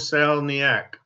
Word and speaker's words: Koscielniak: How do you say it? Kos Koscielniak. Koscielniak. You remember Howard Cosell, right?